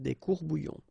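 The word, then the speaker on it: courts-bouillons: Un courbouillon, and then if you want to put the plural form, well, same rule, S, you don't pronounce it, des courbouillons. Un courbouillon, des courbouillons.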